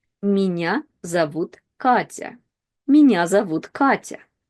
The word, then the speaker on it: меня: Now, as you can see in the word меня, we have sounds m, ye. And if we combine them together by itself, we would read it as me, me.